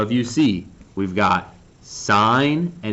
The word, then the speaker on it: sin: like oh sin a sin B just just say sign all right you got